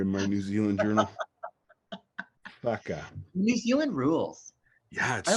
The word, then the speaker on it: whaka: So in the Te Reo language, in Maori language, the WH is one letter and it's pronounced F. So it's a F sound. So if you ever see WHAKA, that would be Faka. Faka.